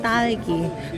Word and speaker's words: 딸기: at first I keep saying like talgi, and then my friend like it's not talgi, it's talgi. I don't really know how to pronounce it. 딸기. Talgi. 딸기.